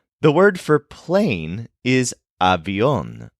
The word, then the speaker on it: avión: The word for plane is avión, spelled A-V-I-O-N, with an accent on the O.